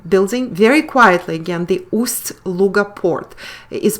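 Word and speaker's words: Ust-Luga: very quietly again the ust luger port is pronounced um a while in english there is no such soft sign as we have in russian that indicates the softness of the consonant we spell it as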